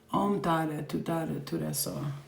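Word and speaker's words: Om Tare Tuttare Ture Soha: So, oops, not I'm. Om. My bad. Om Tare Tutare Ture Soha. That's how you say it.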